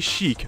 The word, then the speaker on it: Sheik: de commencer oh oui je dis chic je me battre ici sur la seule prononciation officiel de nintendo celle des smash bros qui comme vous pouvez l'entendre dit aussi bien en français qu'en anglais donc chic est un personnage